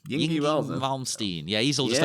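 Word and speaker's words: Yngwie: How do you pronounce his first name? Yingy Malmsteen.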